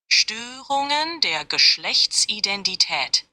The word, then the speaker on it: Störungen der Geschlechtsidentität: Störungen der Geschlechtsidentität. That's pretty bad, right? You're almost there. In German, Störungen der Geschlechtsidentität is pronounced like this. Störungen der Geschlechtsidentität. Störungen der Geschlechtsidentität.